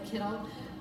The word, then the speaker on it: kittel: And I'm also wearing the kittel, or the kittel. To say it the right pronunciation now, the kittel, which if you've been